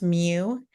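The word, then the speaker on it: μ: symbol right here this symbol right here it's pronounce Mew it is a Greek symbol when I write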